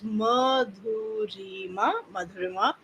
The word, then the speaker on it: Madhurima: goes like a wave so it's easy to pronounce it goes madua Madura and um I am someone who loves to